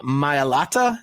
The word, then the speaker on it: Mailata: It is Jordan Mailata.